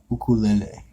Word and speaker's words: ukulele: But it's actually pronounced ukulele. Uku.